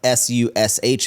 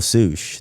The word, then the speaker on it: Soosh: Why didn't you spell it like SUSH if it was an abbreviation for sushi? Because that doesn't spell Soosh. That's like sush. You know? So Wizard Soosh, shit. yeah, Soosh is 2 O's.